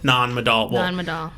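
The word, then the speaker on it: Nan Madol: word is m-a-d-o-l non-medal i watch a youtube video and a local pronounce it non-adult i'm i'm butchering it with an american accent but you know honestly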